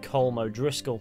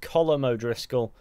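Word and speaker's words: Colm O'Driscoll: desires at some point finding himself partnered with kool Moe Driscoll which is actually apparently pronounced colum O'Driscoll but that's America for you how their partnership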